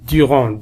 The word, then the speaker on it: Durand: Durand D لا ينطق.